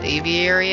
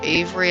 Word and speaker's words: aviary: Alright, where's that natural aviary at? Or Avery, as some people would pronounce it.